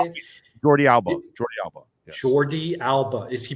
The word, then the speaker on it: Jordi Alba: So is the new guy Jordan Albi? Is that how you say it? Jordi Alba.